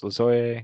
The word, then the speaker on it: Lajoie: I mean, obviously Nap LaJoie works. LaJoie, I should say. Pronounce his name right.